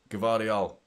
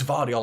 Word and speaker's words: Gvardiol: Gvardiol. It's Vardiol. I always pronounce the G.